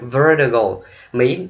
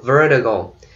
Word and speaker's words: vertigo: And vertigo, Mỹ họ đọc là vertigo, vertigo. Còn người Anh họ đọc là vertigo, vertigo. Cho nên bạn thích đọc sao đọc ha.